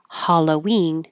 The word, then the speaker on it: Halloween: But when we changed it to Halloween, now the HA sounds like ha. Halloween, and the stress is on ween, Halloween.